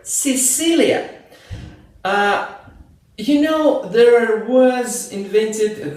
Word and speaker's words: Sicilia: and always say that before letters E and letter I, the letter C pronounced like S, like in the word Sicilia.